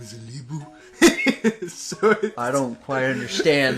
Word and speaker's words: Olibu: And now we meet Olibu. Oh yeah, that is how you pronounce it.